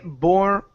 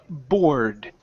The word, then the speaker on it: bored: Okay, so when you see these eds, okay, as long as the word does not end with a T or a D, you do not pronounce this E. Okay, so here we cannot say bored. It's bored. Go right to the D sound.